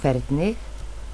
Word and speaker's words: Hvernig: Hvernig. Hvernig. Okay, I know it's spelled with an H, but it's a K sound.